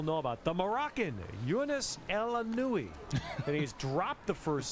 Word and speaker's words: El Aynaoui: Well, El Aynaoui El Aynaoui, I believe, is pronunciation.